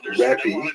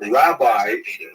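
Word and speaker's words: רבי: And in Israel, the term used in late antiquity was Rebbe, that's the actual pronunciation, which means my greatness, my largeness, which is translated to be my teacher.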